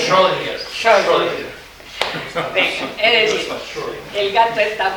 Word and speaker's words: Schrödinger: ¿Quién sabe pronunciar eso? ¿Schroeder? ¿Cómo se pronuncia? Schrödinger.